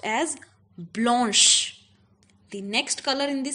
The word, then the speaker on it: blanche: c h e okay and it will be pronounced as Blanche the next color in the same category is